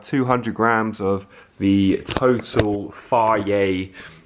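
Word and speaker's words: Fage: Pronounced Faye. It's Greek.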